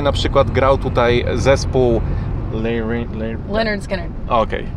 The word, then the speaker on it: Lynyrd Skynyrd: Z tego co wiem, to wczoraj na przykład grał tutaj zespół Leonard Skinner. Okej. How do you pronounce it? Leonard Skinner.